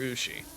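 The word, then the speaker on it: うし: those of you who don't know Japanese uh ushi is spelled USU Shi and it means one of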